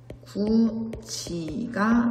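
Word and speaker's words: 굳이: 따라서 구지의 발음은 구지가 됩니다.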